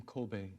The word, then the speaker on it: Kobe: He has his doctorate in Japanese politics and diplomacy and history from, how do you pronounce the name of the university in Japan? From Kobe.